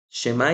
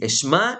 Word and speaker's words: Shemá: Shemá Israel es en la oración y se pronuncia así, Eshmá Israel.